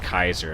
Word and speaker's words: Caesar: revolver or caesar revolver which actually is pronounced kaiser if you want to be uh if you want to be picky about it because caesar pronounced in latin as kaiser which is courses king or kaisar but that is neither